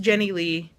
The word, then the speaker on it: Jennilee: this is a psa it's pronounced jenny lee it's not that hard please please pronounce it